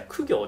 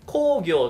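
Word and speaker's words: 公暁: 習っていた苦行ではなくて工業と読みますということで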